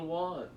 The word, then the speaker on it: won: know this the currency in korea is called one and it's pronounced w-o-n and i was when i was